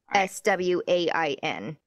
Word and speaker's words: coxswain: It's spelled COXSWAIN.